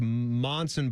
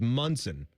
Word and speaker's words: Monson: and I think his it looked like Monson, but it was Munson, which was how you pronoun- pronounced it.